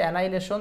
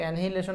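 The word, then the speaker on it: annihilation: ambassador এমিলিউরেশন আচ্ছা তারপরে আসেন হচ্ছে এননিহিলেশন এইযে এনাইলেশন এটার উচ্চারণ হচ্ছে এনাইলেশন যেটাকে আমরা অনেকে এনহিলেশন বলি এনাইলেশন এনাউন্স শব্দটাও আসে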